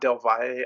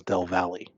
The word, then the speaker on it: Del Valle: If it's not Del Valle, I don't know. It's El Paso Del Valle. Austin is Del Valley.